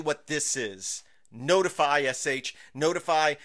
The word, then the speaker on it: ntfy: Notify, SH, notify. So the website here is ntfy.sh, but it's pronounced notify.